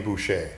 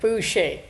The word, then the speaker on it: Boucher: And if I didn't pronounce his name right, I'm going to have him say it. It's Boucher. Boucher.